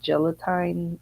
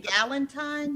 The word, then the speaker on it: Galentine: It's like You been Galentine? Galentine. There you go. I don't know. I said gelatine. No. I think I'm thinking gelatin.